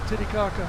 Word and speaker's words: Titicaca: How do you pronounce that? Typic. Lake Titicaca.